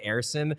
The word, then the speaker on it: Ersson: And the thing is, it doesn't quite work because you're supposed to say it Ersson.